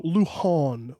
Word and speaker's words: Luhan: like um excuse me it's first of all it's spelled with a J it's l u j a an and it's also Luhan okay it's you need to